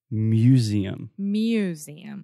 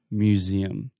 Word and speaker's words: museum: Yeah, so there is that kind of MY sound at the beginning, like me and you, Museum. I was hearing you and a lot of our students do this, say museums, but you want to say museums.